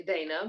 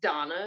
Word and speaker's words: Dana: high priestess Miss Donna I want to keep on and say Dana but the book says Donna is how she's pronounced so Miss Donna one